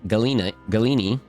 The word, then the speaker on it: Galena: The half of my name, Galena, is Greek. It originally is pronounced Galini.